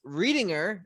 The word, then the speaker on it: Reedinger: zoom with me right now if i pronounce this correctly reading her right perfect awesome awesome and he is the author of the book titled 70.